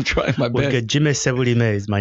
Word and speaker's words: Sebulime: Sebulime? Well, that's a Canadian way. Give me the Ugandan. Ugandan way is Sebulime. Sebulime.